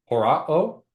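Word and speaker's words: ὁράω: Then horao, remember that rough breathing mark to pronounce that.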